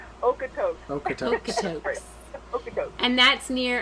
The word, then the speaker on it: Okotoks: Okotoks.